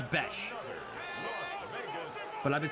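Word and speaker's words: Bech: So I saw 2 different posts. One of them says Jack Beck. One of them says Jack Besh. I think it's Jack Besh.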